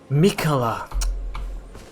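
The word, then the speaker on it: Miquella: in battle I urge you follow after Mika Mika that's how you say it mikola all right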